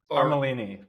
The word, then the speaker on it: Armellini: Is it Armellini? Armellini. Pretty close. Yeah. I thought the two L's were, it was a trick there. It sounded like a Y maybe.